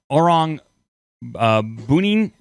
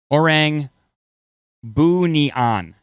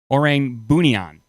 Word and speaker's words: Orang Bunian: So it is pronounced the Orang Bunian. Orang Bunian.